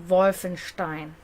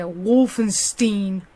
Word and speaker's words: Wolfenstein: It's actually Wolfenstein. Not like Americans say Wolfenstein.